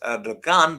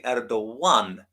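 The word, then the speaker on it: Erdoğan: It's actually, the way they spell it is with this special Turkish G, and the same name as Erdogan, which is actually not pronounced Erdogan, but is actually Erdogan.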